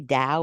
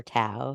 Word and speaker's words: Tao: Well, it can be Tao or Tao, like people Tao, pronounce Tao. it either way.